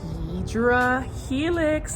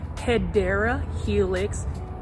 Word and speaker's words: Hedera helix: The correct way to say it, even in 2026, is Hedera Helix, or that's the correct way to say it.